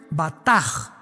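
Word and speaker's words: בטח: Y es la palabra hebrea batch con b de burro y ch al final. Se pronuncia bataj.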